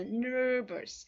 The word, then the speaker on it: nervous: 이때 발음하실 때요. nervous 하시면 안 되는 거 아시죠? 이렇게 R이 들어갈 때는 발음하실 때 여러분의 혀를 안으로 쫙 끌고 가셔야 돼요. nervous.